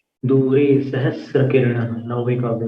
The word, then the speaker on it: सहस्र: संसार, ये उन लोगों का उच्चारण होता है। तो बिंबं वियद विलसदंश लतावितानम, तुंगोदयाद्रि, तुंगोदयाद्रि शिरसीव सहस्र रश्मि, सहस्र, सहस्त्र नहीं है, सहस्त्र है।